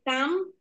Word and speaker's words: calm: Rule হচ্ছে L+M পরপর থাকলে এবং এই এম এর পরে যদি কোনো ভাওয়েল না থাকে, তাহলে সেখানে এলটি কিন্তু সাইলেন্ট লেটার হয়ে যাবে, ওই এলটার উচ্চারণ করা হ্যাঁ, যাবে না। এই কাম, আবার কাম মানে আশা। হুম, হ্যাঁ, COME। ওইটারও হ্যাঁ, তো দুটাই কাম বলতে COME। হবে, হ্যাঁ, হ্যাঁ, দুটো কাম বলতে হবে, দুটোই কাম বলবেন। কিন্তু এখানে কাম বানানটা কি? CALM। উচ্চারণ একই কিন্তু অর্থ আলাদা। হ্যাঁ, উচ্চারণ একই কিন্তু অর্থ আলাদা।